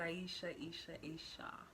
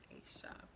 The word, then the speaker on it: Aisha: Aisha is how you say my name. Not Aisha, Aisha.